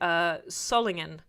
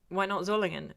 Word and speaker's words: Solingen: Somebody got really shirty with me for mispronouncing for saying Solingen when I was talking about Zollingen, and I'm like, and they were like, you pronounced ENF Hörster correctly. Why not Zollingen?